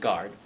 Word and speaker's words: guard: guitar guard and guess the exception is the word guard basically there's a u there and not really sure why there just is a silent u there because if there was an a it would still be guard based on the rule